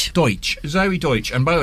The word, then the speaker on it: Deutch: Deutch.